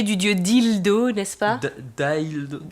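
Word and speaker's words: Dealdo: Dildo. Dildo, ça s'écrit D-E-A-L-D-O, mais ça se prononce comme vous aurez compris la référence.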